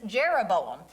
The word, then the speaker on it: Jeroboam: And I'm just going to put his name up here because it's Jeroboam.